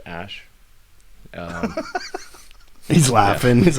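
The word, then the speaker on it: Æ: letter X and then the AE is like pronounced ash he's laughing he's like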